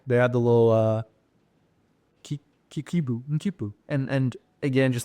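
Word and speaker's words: quipu: They had the little Kipu. And again, just like China, please go look at how that's spelled.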